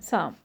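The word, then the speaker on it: psalm: Okay, P is silent, साम.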